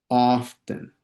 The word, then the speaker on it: often: dice, often, often, often, como que omiten la T a la hora de pronunciarlo, ¿okay?